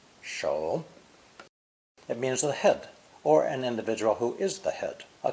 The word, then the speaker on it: 首: Pronounced third tone, shou, shou.